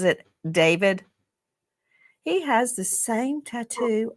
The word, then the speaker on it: DV4D: Some people look at his name and it looks it looks like D4 VD and he pronounces it David.